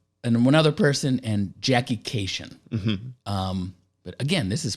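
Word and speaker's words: Kashian: casino, and she said, it's Jackie Cation rhymes with vacation, which, hey, great hint.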